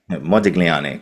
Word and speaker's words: Modigliani: other platforms talking about um I'm going to mispronounce this really really badly. Modiglani hopefully I've said that correctly. You did Modiglani.